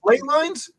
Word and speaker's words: ley lines: That's why I watched it's pronounced ley lines.